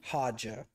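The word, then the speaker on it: Haja: his name was aja i think his name is padja hajja like ha like ha ha ha oh okay i was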